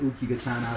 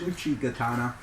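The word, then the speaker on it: Uchigatana: gatana in my videos I've been pronouncing it Uchi gatana the correct pronunciation is Uchi gatana um is way better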